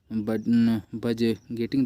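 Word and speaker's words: budgeting: फिर देखिए 11वां आपका क्या था, explaining the family बजट्स, explain the various states of बजटिंग दिया है, बट गेटिंग यहाँ पे डी साइलेंट है।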